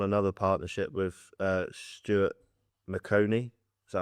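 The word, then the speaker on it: Maconie: you embarked upon another partnership with uh Stuart McConey. Is that how it's pronounced?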